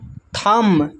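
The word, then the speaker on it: thumb: यहां पर लिखा हुआ है थंब। थंब में जो है बी साइलेंट है।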